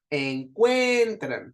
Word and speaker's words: encuentran: Encuentran, suena más fuerte la de en medio, entonces en y tran son sílabas átonas y cuen es sílaba tónica, ¿sí?